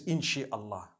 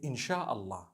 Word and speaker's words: insha'Allah: No one says inshi Allah. They say insha'Allah.